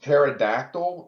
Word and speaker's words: pterodactyl: My favorite dinosaur probably would be pterodactyl, and is that considered a Yeah. dinosaur? Mhm. Okay, because the way it's spelled, you wouldn't think it's spelled that way.